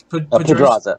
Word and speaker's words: Pedraza: Alright, so I have with me at this moment Carlos Pedraza. Is that how I pronounce it? Pedraza.